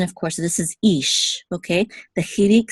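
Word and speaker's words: איש: So this is ish, okay? The chirik says e. So this is ish, and there's only one syllable.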